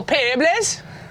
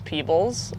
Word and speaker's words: Peebles: We're in beautiful Peebles, as the locals say. You might know it as Peebles or the Tweed Valley.